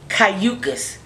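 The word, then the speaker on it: Cayucos: You come from Cayucas. Hey, did I pronounce it right?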